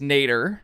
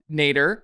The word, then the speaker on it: nadir: So the word of the day today is nader. Not Ralph, but, you know, nadir. It's spelled Nadir, and that is defined as actually, it's more traditional use.